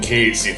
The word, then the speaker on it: Cait Sith: Which conversely I've been putting Cait Sith in MY PARTY. AND YES, I WILL PRONOUNCE IT CAIT Sith and not Cait Sith. Seriously, Cait Sith? I am not Irish nor am I Scottish.